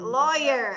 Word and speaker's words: lawyer: Lawyer, abogada. Very good. Lawyer. Lawyer. You pronounce that W, lawyer.